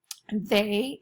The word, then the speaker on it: they: the but it's they in this word the ey says a and that's actually should be a long a i just realized that